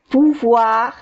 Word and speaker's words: pouvoir: On devrait pouvoir parler de ça. Pouvoir. Acordemos que OI se pronuncia WA.